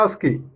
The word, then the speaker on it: ASCII: പിന്നെ അത് വായിക്കുന്നത് ആസ്കി, ASCII എന്നുള്ളത് വായിക്കുന്ന ആസ്കി അവിടെ എഴുതിയിട്ടുണ്ട്.